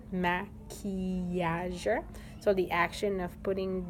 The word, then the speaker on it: maquillage: So you can hear the E in the middle of that long word, maquillage.